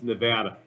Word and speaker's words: Nevada: Brown should have explained to you that it's Nevada. Out here, we take great pride in how you pronounce the state.